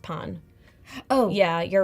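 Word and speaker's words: pain: yes bread oh and I think it's pronounced Pon oh yeah you're right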